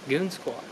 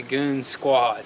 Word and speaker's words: Goonzquad: with it really so it's like goon squad goon squad now we're kind of like goons and it's a squad now so it went from goons on quads to goon squad but it's still spelled with the z though so over here